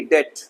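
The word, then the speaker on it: debt: काम, कंघा, क्लाइम, चढ़ना, जेट, डेप्ट नहीं, डेट, डेट, कर्ज।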